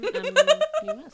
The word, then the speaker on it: Tumnus: How do you spell it? No first name? No. Tumnus? Not Harriet? T-U-M-N-U-S.